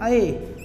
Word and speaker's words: ऐ: इसे कहते हैं ऐ। इसका मतलब ये किससे मिलकर बना है, ये अ और ई से मिलकर बना है, इसे कहते हैं ऐ। और इसे कहते हैं ऐ, ये अ और ऐ से मिलकर बना है, ऐ।